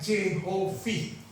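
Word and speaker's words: Jehovih: yang Allah huruf besar semua dibaca Jehovi.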